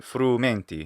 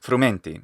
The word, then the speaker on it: frumenti: this clip pondrum frumenti and he also shortens the frumenti he says frumenti should be frumenti so the unstressed long